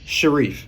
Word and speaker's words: Sharif: What is the proper pronunciation? Is it Sharif or Sharif? Sharif. Yep, you got it.